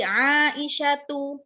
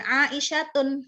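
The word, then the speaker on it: عائشة: Sama seperti Aisyatu, ya, kita bilangnya bukan Aisyatun, tetapi Aisyatu, ya, Fatimatu, Khadijatu, ya kan, dan lain sebagainya.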